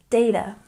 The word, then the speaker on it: data: number four often pronounced data stress the first syllable data data or data very good and number